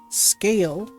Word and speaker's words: scale: Scale, the E is silent.